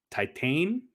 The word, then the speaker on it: Titane: But Josh, I watched a movie called Titane, I believe is how you pronounce it.